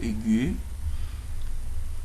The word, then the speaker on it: aiguë: où nous pouvons voir le tréma se place sur la lettre E, le U et le I pour indiquer que les lettres se prononcent séparément de la voyelle placée avant.